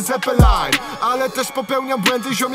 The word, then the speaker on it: Zeppelin: Tylko muszę skończyć latać, hashtag Zeppelin. Pewnie wymawia się to poprawny Zeppelin.